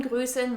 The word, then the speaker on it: grüßen: Jemanden grüßen means to greet someone and is pronounced with a long stretched ü sound.